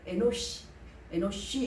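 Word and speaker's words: אנוש: 바로 셋의 아들은 에노스인데, 에노스는 바로 에노시 이렇게 히브리어 발음이 있는데 바로 사람 혹은 인간이라는 의미도 사용된다라는 것입니다.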